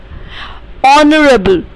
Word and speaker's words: honorable: Honorable, honorable. See, H is silent here. So we say honorable, which is O sound.